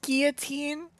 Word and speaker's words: guillotine: You don't pronounce the L? No. No. It's pronounced guillotine, not guillotine. It's French.